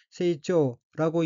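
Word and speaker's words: 成長: 넷째 줄 왼편 두 번째 어휘는 한자가 한국어로 성장이고 이룰성, 긴장자로 되어 있고 일본어로는 세이초라고 읽으며 세이초는 성장이라는 뜻의 명사 또는 수루 자동사입니다.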